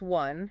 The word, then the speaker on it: one: with the general sounds one and Y. One is pronounced with a W sound at the beginning and Y is pronounced with a long I sound.